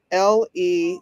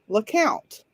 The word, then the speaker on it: Lecompte: that is why is the louisiana town that is spelled l-e-c-o-m-p-t-e which most people would think would be pronounced lecompte in fact it is not pronounced lecompte in in the town it is pronounced lakot why is that that is serious it is